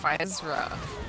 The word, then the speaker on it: Physera: I've also heard people say it Physera. Like, it's not an S sound, it's like a Z sound in the Roman alphabet, okay? How exotic. Yeah, so... Ooh, another Z. Even though it's spelled with an S.